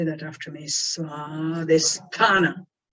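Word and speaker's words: स्वाधिष्ठान: Say that after me, Svadhisthana, Svadhisthana.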